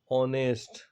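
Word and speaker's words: honest: के पहले एच आ जाता है तो उसका प्रोनाउंसिएशन नहीं किया जाता है। लाइक आवर, ठीक है, ऑनेस्ट।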